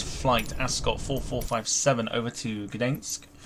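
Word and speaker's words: Gdańsk: So today's flight, Ascot 4457 over to Gdensk in Poland. That's how you pronounce it apparently.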